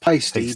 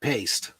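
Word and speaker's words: Paiste: It's actually pronounced pasty, but pasty. Everybody calls it paste, you know.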